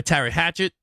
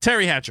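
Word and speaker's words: Teri Hatcher: Um when Paris was played by Terry Hatchet. Um did I say her name right? Was it Terry Hatchet? Terry Hatchet. Terry Hatcher.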